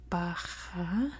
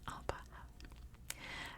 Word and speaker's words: Bahah: I'm pretty sure it might be pronounced like Bahah, like that's a really hard guttural H. But I've heard it pronounced both ways, so I could be wrong.